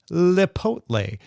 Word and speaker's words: Lipotle: Do you all know about Lipotle? Don't know how to pronounce that? Yes, you do. It's Chipotle with an L instead of a ch.